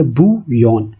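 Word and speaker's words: bouillon: से दिख रही है, लेकिन जो इसको बोला जाता है वो बोला जाता है बू और यौन। अब उसको मिला के आप बोलेंगे बू यौन।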